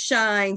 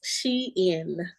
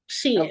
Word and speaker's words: Shein: It is Shein. Shein. Okay. My Yep. Shein, like she's Uh-huh. in. Yep. Shein. Like she's in style.